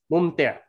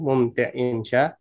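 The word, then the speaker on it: ممتع: Mumte. Mumte. Tulisannya, Ustaz? Mumte. Paling ngomong-ngomong bisa dipakai di mumte, menyenangkan. Mumte. Mumte. Iya, kan ada lagi selain itu perubahan katanya mataun. Ya, kehidupan mumti. Dunia. Tulisannya mumti.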